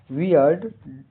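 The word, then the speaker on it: weird: वियर्ड का हिंदी अर्थ छोटा बांध डब्ल्यू ई आई आर डी का उच्चारण प्रोनाउंसिएशन वियर्ड यहां इ आई का उच्चारण इ जैसा होता है। अंत में हल्का ड लगता है।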